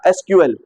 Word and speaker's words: SQL: आर the same thing उसको कुछ लोग सीक्वल प्रोनाउंस करते हैं कुछ लोग एसल प्रोनाउंस करते हैं बोथ आर करेक्ट वेज ठीक है एक ही